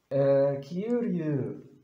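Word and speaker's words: 丘陵: بالنسبة للنطق كيو، كيوريو اللي هي زي كلمة راتب، نفس النطق، كيوريو، كيوريو. كيوريو، كيوريو تتنطق راتب، وهنا بالكانجي ده تتنطق هضبة. كيوريو تشيكتاي، تشيتاي نفس المعنى، هضبة أو منطقة.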